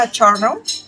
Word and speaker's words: Charno: Lisa Charumo. Um did I did I pronounce it correctly?